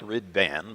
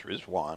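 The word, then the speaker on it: Riḍván: the Feast of rizwan looks like rid vanan but it's pronounce rwan which is the day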